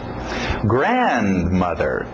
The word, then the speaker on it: grandmother: Importante essa batida no início. Grandmother. Grandfather. Grandmother. Lembra, você está destacando as palavras-chave. Mother. Está falando sobre a mãe. Grandmother. Está falando sobre a mãe ainda. Era avó, eu não escutei a grandmother. Então, importantíssimo essa batida.